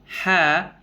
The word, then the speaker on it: ح: Kita naikkan suara ke langit-langit atas. Contoh ho. Maka pengucapannya akan aneh. Ho, ya. Karena apa? Karena sifat istifal yang harusnya dibaca ha, ya, ya. Karena sifat istifal tadi kita tidak sertakan, maka bunyinya menjadi ho sama ya.